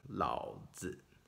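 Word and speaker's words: 老子: And it's pronounced Laozi. So the third tone and the zero is tone.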